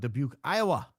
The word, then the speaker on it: Dubuque: How did you know about Dubuque, Iowa? And you said it correctly.